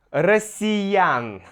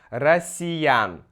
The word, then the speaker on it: россиян: Россиян. Снова ударение на я, поэтому меняем. Россиян.